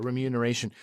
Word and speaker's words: remuneration: Yeah, remuneration.